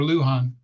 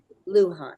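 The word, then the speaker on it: Luján: for Carol in fact do you say his name Senator L Luan or Luhan yes Lan okay Sarah Sarah got me a little mixed up because she brought in her very famous Spanish and another there's another pronunciation for it but that's not how he pronounces it so got it Luhan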